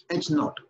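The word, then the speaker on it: H₀: This is pronounced as naught, H naught.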